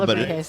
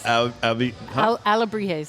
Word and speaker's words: Alebrijes: I can't remember how to pronounce it right now. Alebrijes. Alebrijes.